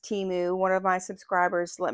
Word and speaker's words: Temu: And oh, the consensus is it's pronounced Temu. One of my subscribers let me know that it was formerly called Team Up, and that's where Temu came from.